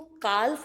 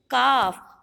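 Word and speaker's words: calf: कुछ बच्चे इसको काल्फ बोलते हैं, बट यहाँ मैं बता दूं एल जो है वो साइलेंट होता है, इसलिए आप इसको क्या बोलोगे? काफ, और काफ भी क्या करता है, ब्लिट्स।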